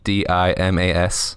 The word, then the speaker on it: Dimas: It's Demas, but it's spelled, like weird MY, not I. And then Demas, DIMAS, like Dimas.